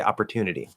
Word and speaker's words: opportunity: But the second T is between two vowel sounds. The letter Y is just the E sound there at the end. So it's at the start of an unstressed syllable between two vowels, comes a flap D, opportunity.